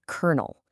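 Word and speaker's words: colonel: Or, okay, think about the word kernel. C O L O N E L. It's pronounced like a corn kernel, which looks absolutely nothing like it sounds.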